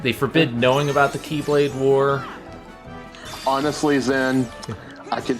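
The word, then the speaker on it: χ-blade: the speed blade because it was because it's pronounced keyblade but it looks like she to me but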